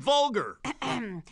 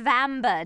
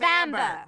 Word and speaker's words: Vambre: if it isn't my old pal's profanity and vulgar. It's pronounced Prohyas and Vambre, dear Niddy. Why does the Nedster have such trouble with our super simple names? Promotion and handle? Prohyas and Vambre.